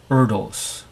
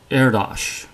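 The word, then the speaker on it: Erdős: I pronounce it as Erdos. Erdos. Now, obviously that's not correct technically because it is a Hungarian name and that is not the Hungarian way to pronounce it.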